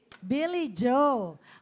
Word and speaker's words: Billy Joe: I don't know how to pronounce yung name po niya, but please correct me. Blyjo. Billy Joe.